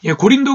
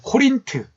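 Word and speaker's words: Corinth: 이룰 수 있도록 도와주십니다 고린도 교회가 이렇게 문제가 많은 되면요 그 지정학적 위치 라는게 나름 큰 역할을 했다 라고 생각됩니다 예 코린트 원래 고린도에 그 보다 정확한 영어식 발음이 코린트 라고 말씀 드렸잖아요 이 코린트 라는 도시는 특이하게도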